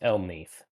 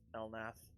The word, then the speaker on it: Elneath: Is it He'll- Elnith or Elnath? It's Elneath. Yeah, he actually hates it when you pronounce it as Elnath.